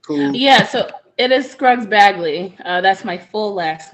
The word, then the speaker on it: Scruggs Bagley: It'll be like Scruggs Bagley.